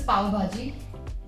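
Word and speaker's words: pav bhaji: Okay, so this is Pavbhaji. I'm Pav not going and- to be able to pronounce that.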